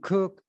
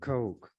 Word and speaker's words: Koch: who has that as a name Coke some cook others C but the CES pronounce it Coke this article was written or published October the